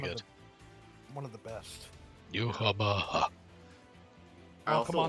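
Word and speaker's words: Yhwach: Yuhaba. I Oh, also come on, like- that pronunciation was spot on.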